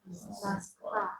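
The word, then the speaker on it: Москва: Moskva.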